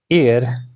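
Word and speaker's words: heir: बताओ क्या आएगा इसकी इसकी जो भले ही ऐसे स्टार्ट होता है लेकिन जो प्रोनाउंसिएशन है डेट इज ई, ठीक है। शी is dash एयर टू a large Fortune, इसका मतलब है कि भाई इसके साथ एन लगेगा।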